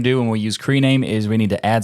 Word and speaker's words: KRename: prefer creame in fact if you look at the way it's spelled it's K capital K capital r with rename and it's maybe K rename but I prefer creame because that just sounds better so the first thing